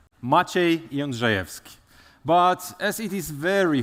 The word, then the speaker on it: Maciej: So how to pronounce it? It's general something like that machev but as it is